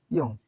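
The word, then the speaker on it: 이응: ইয়ং এই বর্ণের উচ্চারণ ইয়ং।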